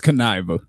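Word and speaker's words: Kuniva: the members what's his name how do I pronounce his name k u n i v a that's Kiva Kiva okay so his alter ego is con artist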